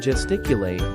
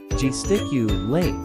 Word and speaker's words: gesticulate: without words pronunciation pronouncing gesticulate is simple G stick you late with a soft G and a long e